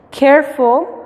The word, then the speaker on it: careful: No, la E es muda. En estas ocasiones, en las 3 palabras, la E es muda. Care no se pronuncia la E. Use, no, tampoco. Careful, no se pronuncia la E.